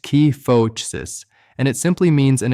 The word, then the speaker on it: kyphosis: The medical world calls it kyphosis, pronounced key-foh-sis, and it simply means an excessive forward curvature of the upper spine, that thoracic region between your shoulder blades.